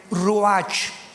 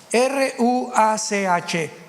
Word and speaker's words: ruach: Apunten todos ustedes, los que les interese en su Biblia, la palabra espíritu, que la palabra se escribe ruach, R-U-A-C-H, ruach, que es la palabra espíritu.